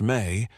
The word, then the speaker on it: me: The Samrian concept of me pronounced may appears in texts not as abstract moral principles but as tangible objects, transferable powers, operational procedures.